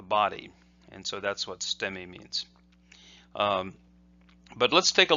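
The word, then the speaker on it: 捨: And then sute, and often that's pronounced ste. So the su is very short.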